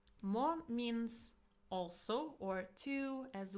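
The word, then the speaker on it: も: Mo means also or to as well. It is pronounced as mo and usually it comes after a noun.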